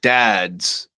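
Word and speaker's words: Dadz: playing a place called Dads. Next Friday. So it's spelled it's like uh like a father, like somebody's father, but it's D A D Z.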